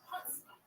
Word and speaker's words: chutzpah: But in America, the accents are the first syllable. Yeah. Chutzpah.